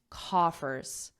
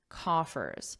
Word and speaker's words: coffers: So repeat after me, coffers, coffers. So it's the same pronunciation as cough, cough, but it just has this ers on it, coffers.